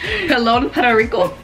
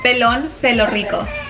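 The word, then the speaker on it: Pelón Pelo Rico: Rico and also you need to try to pronounce it okay hello Rico she hasn't dogged me about rises easily because every time I try you're like no no Pelon pelo Rico Pelon pelo yo hello Pelon pelo Rico I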